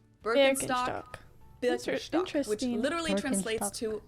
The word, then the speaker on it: Birkenstock: the world nowadays, and it's natural that people pronounce it with their native accent. So English speakers usually say Birkenstock. In German, we say Birkenstock. Birkenstock.